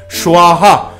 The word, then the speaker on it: স্বাহা: রম হয়রফলা ওকাম রম সোয়াহা দুন্তস্ব বয় আকা হয়াকা সোয়াহা উচ্চারণটা হবে সোয়াহা সোয়াহা সূর্যায় নম।